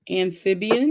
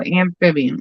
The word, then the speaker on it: amphibian: I can't say it amibian is that how you say it that sounds like an an though amphibian am amphibian yeah that's right the next question is